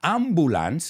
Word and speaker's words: ambulance: an ambulance it's an ambulance and it's not ambulance it's ambulance that you is pronounced like u y o u and that's